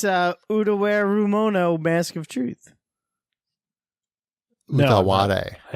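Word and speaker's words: Utawarerumono: I see it has a colon in it, so Wombat can probably pronounce it. Oh, it's Utaware Rumono, Mask of Truth. Utaware. I haven't. Utaware Rumano?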